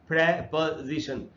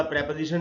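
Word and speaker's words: preposition: word है वो है प्रपोजिशन इसको यह वही ग्रामर वाला प्रपोजिशन है जिसको हम लोग प्रीपोजिशन पढ़ते हैं प्रीपोजिशन गलत उच्चारण है हमको प्रपोजिशन बोलना चाहिए तो देखिए पहले वास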